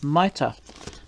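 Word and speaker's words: Mayte: that's beautiful, it shows Mighty holding the flowers. I think actually her name is Maita, apparently that's how you say it.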